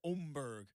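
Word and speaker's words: Åberg: And if you're Max Homa or Oberg, which we're all going to learn how to say his name, it looks like Amberg. It's not. It's Omberg.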